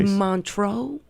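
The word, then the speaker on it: Montreux: And then we went to Montro, if I'm saying it right.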